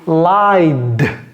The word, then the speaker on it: lied: Ends with a vowel, then you pronounce the simple past form of the verb d.